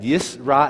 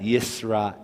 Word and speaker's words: Yisrael: now we have L the first letter Alf Alf is a silent letter followed by the the the the a a that's a a sounding vowel and it leads to the l l lamed so we had yra